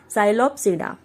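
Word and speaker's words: Psilopsida: Okay, P is silent, इसको कैसे read करेंगे? इट इज रेड एज साइलोप्सिडा।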